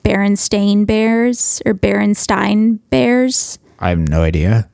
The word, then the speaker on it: Berenstain: makes no sense because it's pronounced Berenstein right so of course you're gonna think it's spelled with an E yeah it's crazy yeah